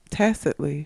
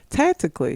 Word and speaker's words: tacitly: me that sounds wrong what you mean I don't say t t t tacitly what you say tactically that's two different words tactically is the root